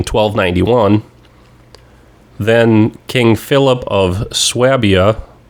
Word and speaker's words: Swabia: Then King Philip of Swabia, over there they're probably going to pronounce it Schwabia.